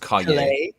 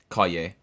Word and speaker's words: Calle: I believe it's pronounced Calle. Calle. Like Calle.